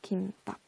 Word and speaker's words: 김밥: 김밥의 표준 발음은 뭐게요? 원래는 된소리 대기, 그러니까 사이소리 현상 우리 안 배웠는데 사이소리 현상 일으키지 않은, 그래서 된소리가 덧나지 않는 김밥을 표준 발음으로 인정을 했었거든요. 그런데 얘도 되지만 뭐도 되는 걸로 인정이 됐냐면 사람들이 사실 김밥 하는 사람들보다 김밥이라고 발음하는 사람들이 더 많잖아요. 그쵸?